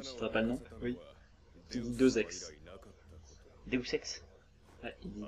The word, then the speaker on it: Deus Ex: La liaison avec ex, du coup deux ex.